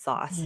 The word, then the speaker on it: SaaS: It feels less organic to say sass. I would have said sauce, but Yes.